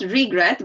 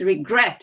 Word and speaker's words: regret: how do you pronounce regret where is the stress the first or the second syllable the second syllable second it's not regret but it's regret you see and again